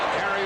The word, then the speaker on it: Gary: They kept stringing the play out, and finally Gary Ellis, his name is Jerry, pronounces it Gary, was bumped out by Joey Browner.